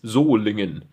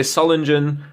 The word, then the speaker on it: Solingen: Germany for those of you wondering how to pronounce well it's zingan uh many of you say Solen engine that's kind of I don't know that's kind of cheeky I like that Sol engine um pattern number is 99 which is the